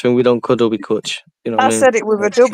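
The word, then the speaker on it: cwtch: We clutch. You know what I mean? I said it with a W. I said clutch.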